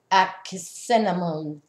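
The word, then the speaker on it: Ankhesenamun: Also, the King Tut was also the son of Akhenaten and Nefertiti, and he married his sister, which her pronunciation is Akhenamun, and that's the Queen of Cups.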